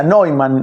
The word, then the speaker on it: Neuman: A Neuman, que creo que se escribe como el arquero alemán, eh, se pronuncia Neyuman en Alemania, Neuman, n e U m a n.